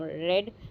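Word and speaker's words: read: तो have रेड होगा, रेड pronunciation रेड है, लेकिन रीड जो हम पढ़ते हैं स्पेलिंग वो आएगी आपकी, ठीक है।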